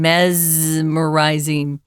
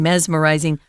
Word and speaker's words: mesmerizing: you pronounce this word we usually pronounce it with a z sound mesmerizing Al though I think some people say mesmerizing but it's very rare I would go with the z sound mesmerizing which means captivating engrossing